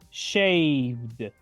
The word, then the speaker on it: shaved: shave que significa rasurarse shaved shaved la última e es casi muda y solo pronuncio la letra d del final shaved shaved y ahora